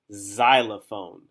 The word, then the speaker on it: xylophone: this word is spelled xylophone you'd think it would start with what letter z you'd think it would start with z because the z is a z letter however xylophone is one